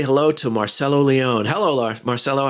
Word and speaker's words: Marcello Leone: up in canada a let's say hello to marcelo leone hello marcelo how are you guys nice to